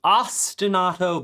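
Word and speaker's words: ostinato: music, which is the ostenato bass. The ostenato bass. So, you say it like it's from the city Austin and then auto like automatic, but it's spelled auto.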